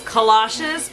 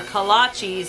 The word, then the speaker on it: kolaches: for our kolaches another confession i used to pronounce these collages because i thought that's what they were called until i did a little bit of research and realized that these are kolaches is how they're pronounced um and they're like